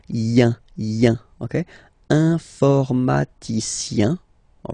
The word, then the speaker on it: informaticien: So that's the way to pronounce this IEN, yin, yin. Okay, informaticien.